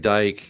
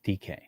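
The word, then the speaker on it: Dike: Um, uh, Chimy Dyke as well at 87. Um, it's pronounced DK.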